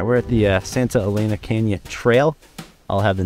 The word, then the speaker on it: Santa Elena: All right, we're at the Santa Elena Canyon Trail. I'll have the narrator interrupt me if I mispronounce that. He's close, but it's Santa Elena, and I'm probably still getting that wrong.